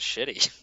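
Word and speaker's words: Ch'ti: who created it but I would probably pronounce this as shitty so a shitty bundle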